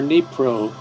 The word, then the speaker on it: Dnipro: placement of displaced people in Dnieper or Dnipro, depending on whether you use the Russian or the Ukrainian pronunciation.